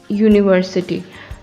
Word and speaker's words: university: is the case with university though it starts with a vowel sound it's pronounced as you we know that a